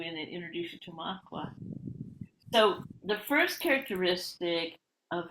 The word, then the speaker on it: Makwa: But I wanted to read to everybody today, before I introduce Makwa to you.